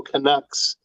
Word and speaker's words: Canuck: I was playing with two of your fellow Canucks uh Tom Green and uh Harlan Williams what's the proper pronunciation oh I I say Canuck Canuck I'll